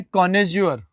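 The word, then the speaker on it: connoisseur: एक शब्द very very important इसका उच्चारण है कोनेजोर है ना कोनेजोर का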